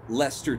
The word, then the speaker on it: Leicester: it the way that you guys spell Leicester Square and the River Thames and then my child could have a name that doesn't make any goddamn sense like sister Thames pronounced Lester Thames screw you screw you